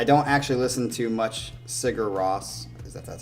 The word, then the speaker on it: Sigur Rós: He says, I don't actually listen to much Sigur Rós, because that's how you say it.